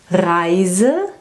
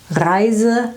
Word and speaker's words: Reise: Reise, this is a journey or a trip. And Riese, this is a giant. Reise and Riese.